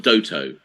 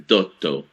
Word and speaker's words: Dotto: The way you did the dotto, so it's not doto, it's dotto. Yes, because there's the double consonant. Again, for the Italian language, whether there is one consonant or double consonant is different pronunciation. And very often we have words that, if written with one or two consonants, have different meanings.